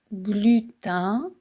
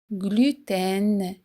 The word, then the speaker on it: gluten: Beaucoup de gens disent glutin comme le chiffre 1. glutin. Mais la vraie prononciation la plus élégante c'est gluten. gluten. On fait sonner le N à la fin.